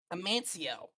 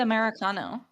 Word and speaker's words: Amancio: No, Amancio's cool because Rue mispronounced it in like a really white way, and so I want okay, to fair make Rue enough. pronounce Yeah. it correctly. Amancio. You said Americano originally.